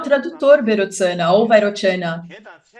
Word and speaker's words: Vairochana: Ele provavelmente foi um pandita indiano que viajou por volta do século XI para o Tibete, e o seu nome era Vairochana, ou na pronúncia tibetana, Berotsana.